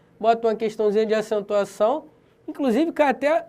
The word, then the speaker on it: acentuação: da língua por exemplo vamos supor que a palavra acentuação não tivesse o cedilha nenhum tio como é que seria a pronúncia acentuacao ah e não acentuação tu percebe que o cedilha a marca que você e tem som de s o ou de ir